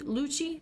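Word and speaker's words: Lucci: that was it l Lucy Luchi that's how you pronounce his name uh what the heck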